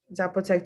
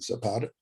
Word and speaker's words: Zapotec: they teach it to folks that identify as Zapotec, to like their children? Say the word again, because I'm mispronouncing it again. Zapata, say it again.